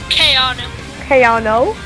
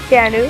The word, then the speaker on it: Keanu: Keanu. Keanu. I looked it up. It's how you say it.